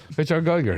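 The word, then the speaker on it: Giger: It's spelled G-I-G-E-R. So I'm not falling for this trap. H.R. Geiger. H.R. Geiger, that's it.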